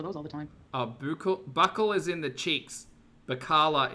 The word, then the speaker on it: Buccal: In English, it's said as buckle, How to pronounce Buccal.